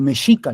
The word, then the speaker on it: mexica: tomó el nawat, el meshica le voy a llamar, ¿no? Porque eran de los aztecas se llamaban mexica y como ustedes saben la X en español antiguo se pronunciaba como la sh, el mes y luego